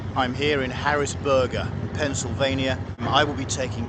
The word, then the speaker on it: Harrisburg: right in pennsylvania how do you say it harrisburg harrisburg thank you i thought it was hot